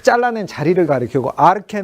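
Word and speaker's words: ἀρχή: 탁 잘나는 자리를 가리키고 아르케 는 아치 아치 짚지 우면 아치를 가치란 말이요 높다는 뜻이에요 그 영어로 나 치고 헬라어는 취 라고 발음하지 않고 캐 라고 하니까 아르떼 라고 하니까 이렇게 근원 높이 이런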